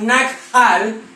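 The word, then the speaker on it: נחל: que se llama y se escribe nachal, nachal, o se puede pronunciar quizás nakhal, nakhal. Amén.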